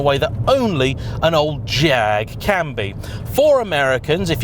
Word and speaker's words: Jag: that only an old jag can be for americans if you're unaware the correct spelling is a j five a's and a g and it rhymes with swag the engine although not